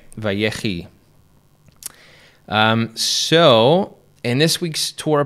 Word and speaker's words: Vayechi: VaYechi. VaYechi. Okay. VaYechi. I think that's about as close as I can get. All right, very good. And which means, and he lived, right? VaYechi.